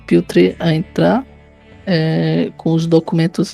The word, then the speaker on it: Piotr: Se pronuncia Piotr.